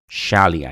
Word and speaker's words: schaalii: that we should provide we should pronounce it as Shi like sh so very interesting so